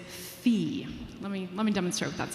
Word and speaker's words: fi: So what we do with solfege is we keep the consonant, the F, and rather than the normal syllable, we use the vowel sound E. So it's not fa anymore, it's fi.